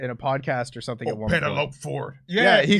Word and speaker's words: Penelope Ford: but a good one that's not how you say her name say the way you say it Penelope shef's a kiss Penelope